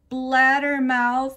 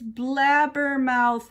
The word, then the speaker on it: blabbermouth: It's not blattermouth, it's blabbermouth, May, I said. Blabbermouth is spelled with B's, not D's.